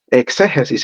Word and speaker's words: exégesis: Exégesis se escribe con X. Se dice exégesis.